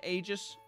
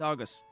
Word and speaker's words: agus: day August uh no I'm not saying Aegis or agus whatever you want to pronounce this it's August and the rest uh